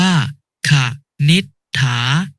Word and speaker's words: ขนิษฐา: หีบ นำ เช่น คำ ว่า ขนิษฐา อ่าน ว่า ขาด นิษฐา ทำ มา อ่าน ว่า